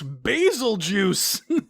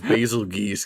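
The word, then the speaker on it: Bazelgeuse: name, we'd say it's basil juice. You know, I couldn't believe it when like the voice actors tried to tell me that it's Basilgeuse, because I'm like, no, it's basil juice.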